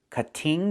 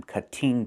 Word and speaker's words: cutting: Move the stress to the first syllable. Cut. Not cutting, but cutting. And in America, we change the t to a fast d when it's between vowels like this.